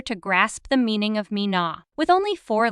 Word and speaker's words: Mina: I as you've heard Mina is relatively simple to understand because of its straightforward pronunciation with twoo easy to articulate syllables mean and na did you notice there's